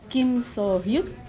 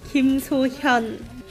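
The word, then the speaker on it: 김소현: Kim So-hyuk. That's wrong. It's Kim So-hyun.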